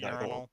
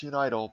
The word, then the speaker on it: Unital: Is that what I'm gonna pronounce it urinal. Or orbital. I swear to God, if that's It's probably unital. Yeah, no, it's unital because the Japanese is uniteru.